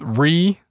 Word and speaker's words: Rea: click enable rote processing I keep saying Ria but I think it might just be pronounced re so at that point